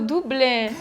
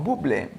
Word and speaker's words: Bublé: Oddio, io pensavo Dublé. No, Bublé.